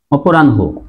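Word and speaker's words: অপরাহ্ণ: হবে আবার বলি যে হ এর সাথে যদি ন যুক্ত হয় তাহলে এই নর উচ্চারণ আগে হবে আর হর উচ্চারণ পরে হবে অ রান অপরাণ হো এই যে অপরাণ এখানে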